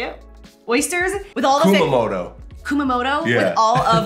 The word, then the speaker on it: Kumamoto: We had an oyster shucker girl who walked around serving fresh West Coast Kamamoto. Is that how you say it? Oysters with all the Kumamoto.